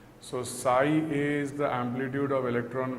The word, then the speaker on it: psi: symbol Sai that is written as psi pronounced si so Sai is the amplitude of